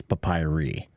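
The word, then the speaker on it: papyri: so you guys know the plural of papus is papayi I'm just saying to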